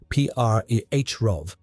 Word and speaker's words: Přerov: Towns like Postelberg, Ústí, pronounced O-O-O-Sti, and Přerov, pronounced P-R-E-H-Rov, became scenes of massacre.